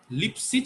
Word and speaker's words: Lipschitz: আচ্ছা বলে দিই, লিপসিজ মানানটা ভালো করে করতে হবে, লিপস্টিক না, কিন্তু আবার মেয়েরা আবার নিজেদের ইচ্ছে মতো করে দিবে না। লিপসিজ ম্যাথমেটিশিয়ানের নাম, ছোট লাগানোর জিনিস না, ঠিক আছে? লিপসিজ ফাংশন, তো উচ্চারণ ঠিক করতে হবে, ম্যাথমেটিশিয়ানের নাম, তাকে সম্মান দিতে হবে, সেখানে এল বড় হাতে, LIPS লিপস CHITZ, ঠিক আছে?